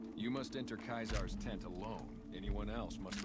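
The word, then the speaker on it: Caesar: He's like, why does the Legion pronounce their uh letter as Kaisar instead of Cesar? Because they're stupid. What? What? later. That's funny. You must enter Kaizar's tent alone.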